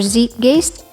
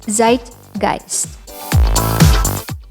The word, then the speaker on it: zeitgeist: uncommon words pronunciation video our first word is zeitgeist general trend of thought or feeling characteristic of a particular period of time some people say this as zeitgeist or zeke geast but the correct pronunciation is zeitgeist shuffle of the larger species of cats